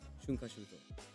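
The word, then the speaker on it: 春夏秋冬: Haru, Natsu, Aki, Fuyu, all put together, smashed together, and the word together is pronounced shunkashuto.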